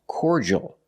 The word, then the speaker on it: cordial: The word is pronounced cordial in American English. Cordial. Make the or sound like for and or core. The d makes a j sound like juice and jump.